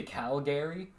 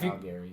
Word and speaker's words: Calgary: It's spelled, yeah, but It's spelled Cal and then Gary, but Calgary. Calgary. like Calgary. yeah, Calgary. Calgary. There, that's how you say it. Like degree. Calgary. Imagine it's R-E-E.